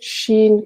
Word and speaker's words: Shin: gines comme un gène chine comme le pays et jutsus il suffit